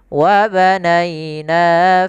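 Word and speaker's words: وَبَنَيْنَا: Kemudian ba termasuk huruf qalqalah. Ini cara membacanya sama seperti bahasan sebelumnya pada ayat sebelumnya, yaitu ba-nya dipantulkan. Kesalahan terjadi, pertama tidak mantul, yang kedua menambahkan hamzah. Hati-hati dalam membacanya.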